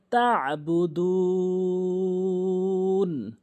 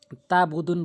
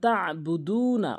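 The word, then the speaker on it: تَعْبُدُونَ: লা আ'বুদু মা তা'বুদুন, তা আইন জবর তা, অনেকে তাবুদুন বলে, তাবুদুন আইনের উচ্চারণটি বাদ দেয়। আইনের উচ্চারণ হলকের মাঝখান থেকে তা, তা আইন জবর তা বুদুন।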